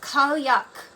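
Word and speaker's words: Cailleach: Pronounced Kalyak is a vastly ancient Celtic earth mother, a crone goddess of winter, snow, and changing seed seasons.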